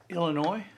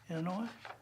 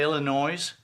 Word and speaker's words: Illinois: a couple of foreign countries uh people from Illinois Illinois and it I pronounced it correctly too didn't I do you hate it when people say Illinois God that drives me insane because and my